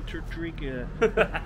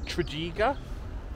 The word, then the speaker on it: Tredegar: Ladies and gentlemen, I think that's going to be the end of this amazing little adventure to Tredegar.